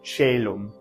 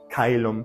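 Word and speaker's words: caelum: this one in OE diphthong and they're both pronounced the same way in ecclesiastical here's shellum foreign again that Soft C Sound and then this becomes in an a sound and here in Latin it's kailumb and if you were to write c o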